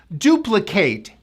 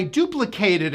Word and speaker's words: duplicate: And then after I duplicated it, this now is a noun, and this becomes the duplicate. We don't pronounce that A, it's now I, as in sit, hit.